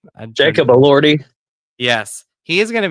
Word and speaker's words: Elordi: How do you pronounce? Jacob Elordi.